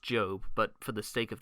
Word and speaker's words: Job: the book of job i know it's pronounced job but for the sake